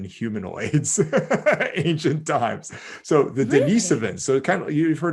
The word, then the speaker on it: Denisovan: that you use but it's denisovan it's like it's spelled like dennis the name and then iv denise oh o-v-a-n sorry so the denisovan were not